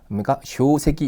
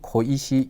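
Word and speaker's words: 小石: 작은 돌 훈독으로 해석하듯이 일본어도 그냥 훈독으로 효세끼 이런게 아니고요 코이시 이렇게 읽어 주시면 되겠습니다 작은 돌잔돌 물론 우리나라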